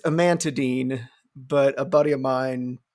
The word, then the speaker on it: amantadine: Oh, Jesus Christ, a man to dine. It was awful. So now I pronounce it in my head, amantadine, but it's called amantadine, and it was developed for people with Parkinson's